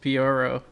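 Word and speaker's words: Pyoro: our favorite Twitter user is it pronounced pioro yes peoro um I feel like it's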